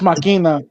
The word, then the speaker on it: Machina: It's pronounced Machina.